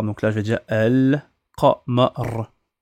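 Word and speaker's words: القمر: D'accord, donc là je vais dire El Qamar. El Qamar. On prononce toutes les lettres.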